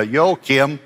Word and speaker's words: Joachim: He spoke last year, and if you forget how to pronounce his name, think about that you're greeting the leader of North Korea, Joachim.